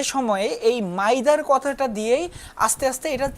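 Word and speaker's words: m'aidez: বলে তাদের তো উচ্চারণ মাইদার মাই তারা তো মাইদার আমরা যেভাবে বলি তারা তো সেভাবে বলতে পারে না। তারা এই মাইদারকে এমনভাবে বলতো যেটা শুনতে মেয়ে মেদে মেয়েদে এরকম মনে হতো।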